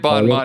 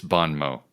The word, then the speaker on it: bon mot: Yes, because we were calling it bon mot, and he's like, it's bon mot.